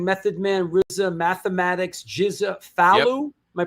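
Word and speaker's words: Falu: Funkace, Wuang, Method Man, Rizza, Mathematics, Jiza, Fallu. Am I pronounced Fallu? Faloo.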